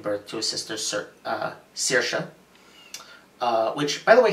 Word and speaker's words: Saoirse: to a sister sir saoirse which by the way thank you movie for teaching me how to pronounce that name which I've only ever seen written down it's Saoirse saoirse um they get I